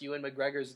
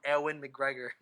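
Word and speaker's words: Ewan McGregor: it now I cringe I used to call him Owen McGregor okay that's not too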